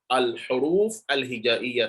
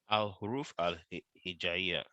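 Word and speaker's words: الحروف الهجائية: So Arabic alphabet, they are called al-huruf al-hijaiyya. Say it. Al-Huruf al-Hijaiya. Now, this is it. So I've transliterated it. Al-huruf al-hijaiyya. But I want you to pronounce it perfectly. Al-Huruf al-Hijaiya.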